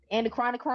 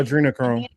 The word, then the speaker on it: adrenochrome: I never pronounced this right. I don't know if somebody can put it in the chat. Maybe Marcus, you can help me pronounce this right. The anacron chronocchrome. Anacronocchrome. Uh, adrenochrome. Adrenochrome. Thank you.